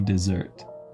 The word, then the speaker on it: dessert: それ葵最初のデとかデとかわからない発音。 It's not de, it's de. デザート。 Dessert.